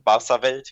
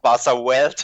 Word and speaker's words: Barcawelt: It's German, Barcawelt. It's Barcawelt, if I pronounce it in English.